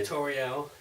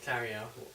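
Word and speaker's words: Tauriel: Yeah, Toriel, she was good. Tariel. Tariel, yeah.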